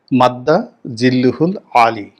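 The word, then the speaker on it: مد ظله العالي: কিন্তু সালাউদ্দিন সাহেবের মত মানুষ যখন মাদ্দা জিল্লুহুল আলী উচ্চারণটা এরকম।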